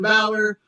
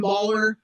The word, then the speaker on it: Bauler: I love seeing Finn Balor. I always tell people if they pronounce my name Baller, I say it's Balor like Finn Balor.